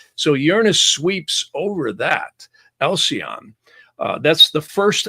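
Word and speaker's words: Alcyone: Now, some people call it different, but I pronounce it Alcyon.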